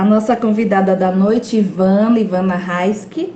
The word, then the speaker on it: Raisky: A nossa convidada da noite, Ivana Raiski, é assim que pronuncia o Raiski?